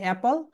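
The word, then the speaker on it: apple: Right pronunciation হবে অ্যাপল, কিন্তু আমরা বলি আপেল না কি যেন বলি, আল্লাহ জানে।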